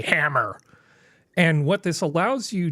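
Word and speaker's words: HAMR: for a while HR pronounced the obvious way hammer and what this allows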